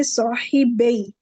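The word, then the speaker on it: صاحبا: Noon will drop. That's why there is no noon. When there is no noon, so we will, of course, we will not pronounce it, and we will say sahibay.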